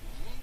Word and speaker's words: gyro: Yi. The G is not pronounced like a G in Greek. Simply say yi and then ro. You do want to roll your R rather strongly.